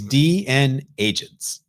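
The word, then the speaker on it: DNAgents: It is DN agents.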